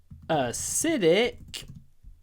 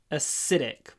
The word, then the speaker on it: acidic: acidic so maybe the most interesting thing here is that acid the stress is on the a but acidic the stress is on the is on the Sid or the S I should say acid acidic acid acidic